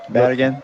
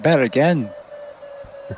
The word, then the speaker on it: Bergen: That's because we don't pronounce that city right in Danish. Yeah, but it's also in Norwegian. I should have understood that. Bergen. Yeah, exactly. Well, they're in with their dialect, Bergen. Yeah, probably.